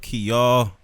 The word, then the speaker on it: Kiall: And I go by the name of Keyall. That's spelled Kiall. You know what I mean? Like key to everything.